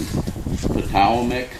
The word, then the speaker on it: Potomac: its name from, and most people just call it Potomac, but the original way of pronouncing it would have been Potowamek or Potowamek, and that's the Algonquin language.